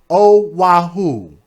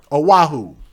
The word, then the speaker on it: Oahu: How do you pronounce it? Oahu? Oahu. Thank you. Oahu.